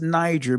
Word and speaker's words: Niger: Now there were in the church that was at Antioch certain prophets, teachers as Barnabas and Simeon that was called Niger and Lucius of Serene and Manan which had been brought up with Herod the Tetak or Tetrarch and Saul.